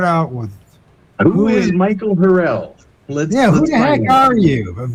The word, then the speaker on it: Harrell: But that's Hark from now the it's not Harrell, or it's Harrell like barrel, Gotcha. or like Will Ferrell, spelled the same way.